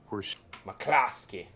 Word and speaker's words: McCloskey: evening america we are mark and patty mccloskey mccloskey that's how you pronounce it for those of you who are